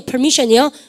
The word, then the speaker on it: permission: permission이요.